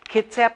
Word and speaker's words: Kitsap: want to make sure I say it right Kitsap County History Museum on 4th Street and we're